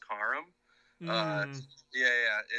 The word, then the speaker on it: Karam: man first i want to say it is pronounced kharam uh yeah yeah it's uh but it's okay